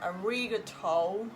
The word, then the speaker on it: ありがとう: So I will tell how to make a good pronunciation of Japanese today in this video. Let's check it. First example. ありがとう。ありがとうございます。Sometimes foreigners say arigato or arigato, yeah, something like that.